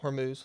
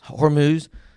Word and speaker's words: Hormuz: start, you know, going through the straight of hum, how do you say that? Hormuz. Hormuz, then we're fine.